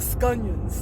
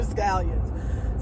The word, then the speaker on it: scallions: everybody pronounced everything incorrectly so my grandmother and my great grandmother used to call them scunions but they were scallions so anyway on that